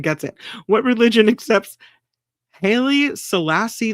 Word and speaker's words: Haile: Pronounced like Haile. Oh, is it Haile instead of Haley?